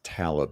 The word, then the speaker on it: Talib: It's because you're mispronouncing his name. It's Talib, like the rapper.